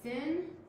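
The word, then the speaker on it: שִׂין: We have shin, and we have sin. Shin makes an SH sound, sin makes a S sound, and she helped me to put the dot here for sin because sin is never right.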